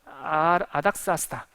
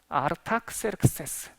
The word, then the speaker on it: 아닥사스다: 아닥사스다 세상 말로는 아르타크세르크세스. 그러니까 아르타를 성경 발음으로는 아닥 그런 거고요. 크세르크세스를 사스다 이런 거예요.